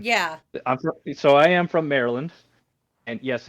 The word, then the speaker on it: Maryland: So I am from Maryland, and yes, it's pronounced Maryland.